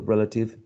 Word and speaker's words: relative: We talked about the general rule for 3-syllable words, like universe, article, relative, democracy. And here the rules indicated that the third syllable from the right to the left was the one which carried the stress.